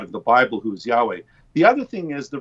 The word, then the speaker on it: Yahweh: which is the four letters of God's name, YHWH, and it's usually pronounced Yahweh.